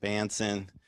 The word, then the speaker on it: Bahnsen: Uh, our guest this morning is David Bonson, Bhansen. Bansen, but really Bonsson, right? That's that's the right way to say it.